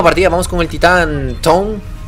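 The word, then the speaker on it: Tone: Vamos con el titán Tom. O Toné. No, creo que está inscrito en inglés. Entonces, si está escrito en inglés, se pronuncia en inglés.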